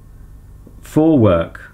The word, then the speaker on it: Vorwerk: a 90o a pneumatic James Vorwerk which is pronounced up for for I was looking it wrong for work for work kobold VK 109 familis 600 l